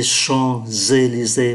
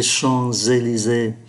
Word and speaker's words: Champs-Élysées: Chúng ta để ý ký tự M khi đứng trước P thì đọc là N. Les Champs-Élysées và đọc nối Les Champs-Élysées.